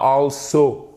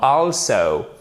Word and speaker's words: also: Also, vous avez l'accent tonique sur la première syllabe qui est composée de ces deux lettres, ok? Also, also, et pas also, non, also. Ok, I will also do the same.